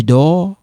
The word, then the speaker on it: dors: Now, when you take a look, we have je dors. You don't pronounce this.